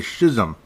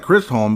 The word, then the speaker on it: Chisholm: And I keep saying the name wrong. It's actually Schism. It looks like Chrysholm, but it's Schism.